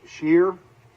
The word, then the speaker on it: Sheer: We're back with Sheer, and I have to stop and think about, is that the correct pronunciation? It is.